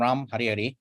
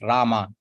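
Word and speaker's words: राम: Krishna Krishna Krishna ram ram actually Ram is in Hindi the actual Sanskrit pronunciation is Rama so when when the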